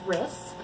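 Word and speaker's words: Rhis: isn't going to inherit so her name is wrist it's spelled bar H is and her kingdom is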